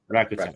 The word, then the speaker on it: Rakuten: You worked at, I never know how to pronounce this, Rakuten? How do you, yeah. Rakuten.